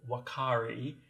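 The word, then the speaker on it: uakari: primate it is youthful what carry its pronounced kind of like a w but it starts with you so what carry our South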